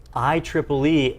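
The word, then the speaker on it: IEEE: is all that well the proper way to say it is i triple e 802 11 b i triple e 802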